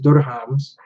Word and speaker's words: dirhams: The currency is dirhams. That's how you say it. Say it with me, Geneva. Dirhams. Thank you. You gotta roll the little dirhams.